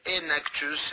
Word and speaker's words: Enactus: Et vous pouvez avoir bien sûr plus d'informations en allant sur le site donc de Enactus, comme ça s'écrit, comme ça se prononce, Enactus, et vous avez bien